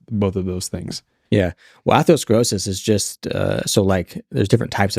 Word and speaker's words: atherosclerosis: Atherosclerosis. Yeah. Okay. Define what both of those are, and then also what the mainstream says is the cause of both of those things. Yeah. Well, atherosclerosis is just, there's different types of atherosclerosis.